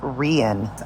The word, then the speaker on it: Rein: It's actually pronounced Rian.